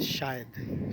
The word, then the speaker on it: شاید: में हाजिर हुआ हूं वो लव्स है शायद शायद नहीं है शायद है शायद ठीक है हम जी तरह इसको प्रोनाउंस कर रहे होते हैं उसका अंदाज कुछ इस तरह से होता है की अलिफ के बादशाह है हमजा ए रहा है तो ये हमजा नहीं आता इसमें ये ये आई